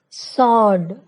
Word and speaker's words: sword: W is silent in the following words: who, whose, whole, whom, whoever, answer, sword, to.